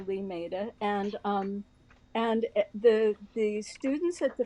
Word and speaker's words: Limeira: it's in Limeira, Brazil, which is spelled Limeira, but you say Limeira, and the students at